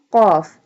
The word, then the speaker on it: قاف: will be bold۔ قوة قاف۔ قاف pronounced from the root of the tongue touching the soft part of the palate۔ قاف زبان کی جڑ